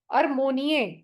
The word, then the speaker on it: armonia: इसको बोलेंगे हम अर मो इसको बोलेंगे अरमोनिये, अरमोनिये, अरमोनिये।